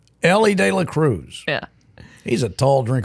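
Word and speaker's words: Elly De La Cruz: Ellie Ellie DEA Cruz you said Ella you and your buddy Chris Le cannot say his name properly and every time I correct both of you you both act like I'm insane Ellie De La Cruz yeah he's a tall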